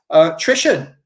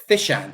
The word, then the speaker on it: Thishan: Trishan, thank you very much. Oh, it's Thishan. Sorry, not Trishan. Thishan.